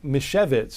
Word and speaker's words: Misiewicz: So Mike Misiewicz is how you say his name. It's a Polish-sounding name.